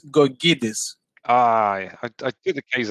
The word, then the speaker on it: Gkogkidis: the first name was fine it's vasilis it's gorgidis i i did the case out but i mispronounced it yep it's a tough one anyway